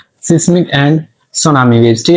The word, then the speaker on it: tsunami: कुछ बच्चे इस नाम को जो है ना वो गलत भी पढ़ते हैं। यहां पर हमारे पास जो टी है वो क्या है? साइलेंट है। तो ये हमारे पास सुनामी वेव्स होती हैं।